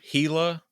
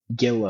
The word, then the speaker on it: Gila: going to Google Hila, it's not spelled with a H. It's spelled with a G. That's true. Be careful. What is it? G A I A or something like that. No, it's G I L A. Gilla. G I L A. It's spelled like gilla.